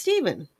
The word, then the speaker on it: Stefan: See, it's Stefan, but it's pronounced Steven.